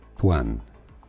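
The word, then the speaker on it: Tuyền: In English, it's generally pronounced the English pronunciation Tuan.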